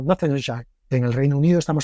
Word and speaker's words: Northamptonshire: nombre de pueblo inglés, que los ingleses pronuncian comiéndose la mitad de las vocales y el 75% de las consonantes, de tal manera que ellos dirían algo como Northamptonshire.